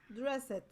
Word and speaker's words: dressed: say it dressed like the e d becomes a t sound you don't say it ed don't ask me why it's english and this is what makes english so hard to learn okay the pronunciation is dressed dressed dressed red okay and then person